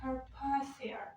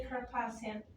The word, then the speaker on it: Carpathia: So guys, the pronunciation, please be careful. Yeah, the Carpathia ship, not the Carpathian.